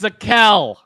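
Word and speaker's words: Zakelj: he could come in oh the j is now silent lol apparently the j is silent it's zakel it sounds like edgy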